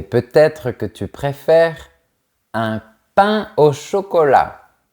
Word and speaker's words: pain au chocolat: Mais peut-être que tu préfères un pain au chocolat. On ne fait pas la liaison entre les mots pain et eau.